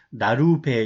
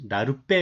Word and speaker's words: 나룻배: 이유는 이 배가 빼로 발음돼요. 우리가 읽을 때 나루와 배를 합쳐서 나룻배가 되는데 나루배 이렇게 읽지 않아요. 나룻배 이렇게 읽죠.